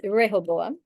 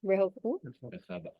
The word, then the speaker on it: Rehoboam: It's Rehoboam, right? How you say it in the Hebrew, you guys? How you taught? Rehoboam.